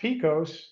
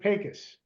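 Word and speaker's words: Pecos: here they pronounce it pus and I'm not sure why but that's the way it's pronounced out in West Texas out here and that and if you look at pacas it's about a 40-minute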